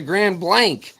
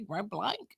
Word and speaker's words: Grand Blanc: really sag so SI or Grand Blanc oh I'm going to Grand Blank gr blank that's that's what I say Grand Blank oh and gring I